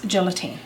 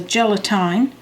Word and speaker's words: gelatin: full envelope of this gelatin now I toss the gelatin but I'm sure there people that calls a gelatine there's probably other pronunciations for but that's all we've ever called it gelatin and you just mix